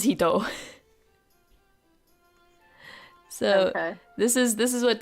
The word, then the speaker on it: 一: but the kanji for one, which is just a straight line, right? It can also be pronounced as hito.